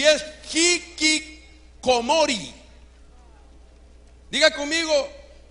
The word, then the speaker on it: hikikomori: un japonés con Barrera voy a tratar de pronunciarlo y es hiik comori diga conmigo hikikomori hiori ya está hablando japonés usted mire Y